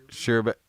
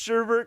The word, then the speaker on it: sherbet: Sherbet. It's not. Is it pronounced sherbet? Because there's not an R at the end.